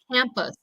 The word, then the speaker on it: campus: in our last one campus campus we don't want to say campus campus we want to say campus okay we've got that schwa sound for the u vowel okay profession that's another